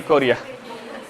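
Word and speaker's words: Korea: कोयरा नहीं कोरिया।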